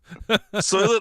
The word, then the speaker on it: Soylent: green ladies and gentlemen soylent like rhymes with toilet exactly we'll see how